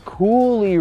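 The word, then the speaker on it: Coulis: One thing though, if we're on the outside here, I want to talk about this Coolie red color, which is spelled C-O-U-L-I-S, but is said Coolie, so I'm assuming that's French.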